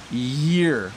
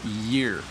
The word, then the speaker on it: year: for the pronunciation so ear ear and year there's a little bit of a wise sound at the beginning year Arum says hello Bob